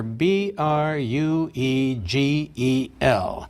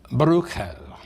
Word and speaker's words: Bruegel: would sound more like bruco but in English if that's difficult we often use a hard G as I shall Pieter Bruegel the elder hunters in